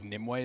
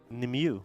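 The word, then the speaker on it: Nimue: a really good fight why is it called nimway that's just how I've always PR how would you pronounce it nimu nimu yeah isn't that the name nimu nimu I mean I why is it Nim way I don't know I'm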